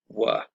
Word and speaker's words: were: notice the pronunciation here the was or the were takes a weak form so it's pronounced was were i was playing you